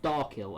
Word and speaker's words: Darkill: So Drykill or Darkill. Okay, it's pronounced Darkill. Okay, the darkest planet of them all also has the last regular planet.